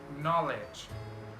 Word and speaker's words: knowledge: K is not pronounced when it comes before an N. For example, knife, no, knee, knock, not, knowledge.